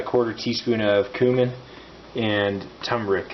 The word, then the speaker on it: turmeric: teaspoon of cumin and turmeric is actually how you pronounce that put those in makes